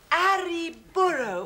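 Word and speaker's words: arre burro: Oh, and you must remember to roll your R's. Now, that's essential. Arri Burro.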